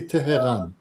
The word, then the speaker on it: Tehran: So the Russians will pronounce it Teheran. Teheran. Russians. Russians call it. Yeah. Russians call it And what do Ukrainians call it? Tehran. Tehran. Tehran. We say Tehran.